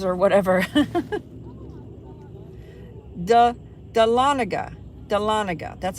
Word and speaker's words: Dahlonega: like the louisiana town names or whatever the dahlonega dahlonega that's how you pronounce it dahlonega dade county georgia borders chattanooga tennessee see tennessee